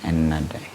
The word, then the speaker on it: Ennahda: Ennahda, bacanya gimana sih? Ennahda.